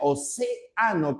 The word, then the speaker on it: océano: Se pronuncia avaro, se pronuncia océano como esdújula.